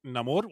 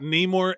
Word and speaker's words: Namor: think I loved look we got like Namor which is how he pronounced it in the movie and there's no more Namor in my life it is not Neymar anymore it's Namor and that that whole